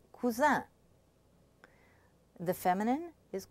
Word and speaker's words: cousin: Okay, the sound un is spelled sometimes I-N, and indicates the masculine, as in words like cousin.